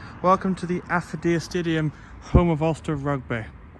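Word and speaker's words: Affidea: They pronounced it as Aphidia and Aphidia. It's Aphodia. And it's very big. It's a very big ste. And there it says, "Welcome to the Aphodia Stadium, home of Olster Rugby."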